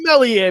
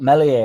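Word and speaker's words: Meslier: Harrison and Melier must know. Yeah, I know. Without even saying all, I've been clipped up into that now. So, it it's re I found the Messier silent s thing unbelievably interesting from even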